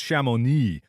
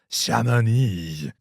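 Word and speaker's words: Chamonix: Twice have you mispronounced C H A M O N Ix? I don't know. Uh, I've tweeted this to you telling you how to pronounce it. And you saw it. It's Shamoni. Shamani.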